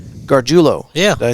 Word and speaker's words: Garguilo: It's Garguilo. Garguilo.